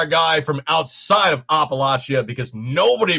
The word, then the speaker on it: Appalachia: appalachia you are a guy from outside of appalachia because nobody pronounces it apple latia it's appalachia that is the correct way to